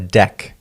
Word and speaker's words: deque: ended queue or a deck you can remember it's pronounced pronounced like a deck of cards a deck is an